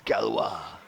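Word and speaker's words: Gauloises: How did you think How did you think that French cigarette was pronounced? Gales. Yeah. Galouses. Yes. We had about four goes in it. Well, that's how it's spelled. Well, who would ever think that? If you don't know French, though, it's galwis.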